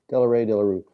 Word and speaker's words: Delarue: original score for 1980, by Georges, is it Delarue, I think? Let me see if I can pronounce it correctly here. Hang on, I had it here a moment ago. Georges Delarue, there it is. Delarue.